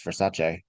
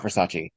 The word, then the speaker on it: Versace: I didn't realize for years how we all kind of mispronounce Versace. It's not Versace. It's Versace. Versace.